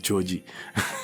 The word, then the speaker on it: Djodje: And I'll be looking at Djodje. It's pronounced more like Djodje.